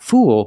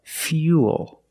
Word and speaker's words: fuel: one's a little different we're going to use the e sound fuel not fool but fuel we have the same law